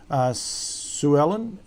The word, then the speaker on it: Suellen: And then I'm pretty sure the last 2 races, yes, Suellen is how you say this horse's name.